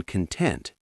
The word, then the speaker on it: content: The stress is on content.